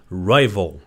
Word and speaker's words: rival: Rival. تلفظش rival. Rival نیست. Rival.